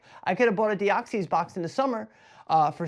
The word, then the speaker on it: Deoxys: That Deoxys, I'm gonna do the pronunciation today for Deoxys. Deoxys is going to now Deoxys is $165,000.